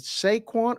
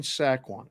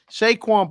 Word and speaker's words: Saquon: say his name right is it Sequon or saquon I say sequence yeah that's I say that somebody tells me sack one anyhow it's saquon Barkley is an electric football